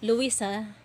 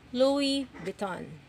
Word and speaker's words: Louis Vuitton: By the way, mommy, ang pronunciation ng Louis Vuitton, hindi po Louisa, Louis Viton. So tatanggalin niyo yung S. Sa ano lang siya is Louis. So wala po siyang S pagponoun siya.